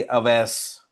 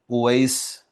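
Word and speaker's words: أويس: Male student जो है उनका नाम है, उर्दू में हम कहते हैं जी अवैस, जबकि अरबी में ये उवैस के तौर पर प्रोनाउंस किया जाता है, उवैस।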